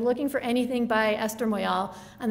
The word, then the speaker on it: Moyal: for anything by esther moyal and they all for some reason pronounce her name moria don't ask me why